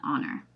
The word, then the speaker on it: honor: doing this today because it is not about what you see it's about what you hear right so we should say an hour or an honor so it is an honor